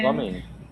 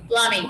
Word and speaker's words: plumbing: Plumbing. The B is silent. Plumbing.